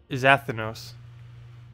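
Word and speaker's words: Xathenos: Zathinos. I think I got it. Pronounced with a Z, the X is silent. Zathinos.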